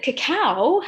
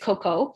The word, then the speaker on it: cacao: to us and so the beautiful thing about cacao is that cacao um some people do pronounce it coco and i'm gonna talk about that in a minute the